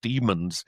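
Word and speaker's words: Daemons: It's about uh a race of actually they pron it's spelled d ae did they looks like demons it's pronounced demons according to the book but of course it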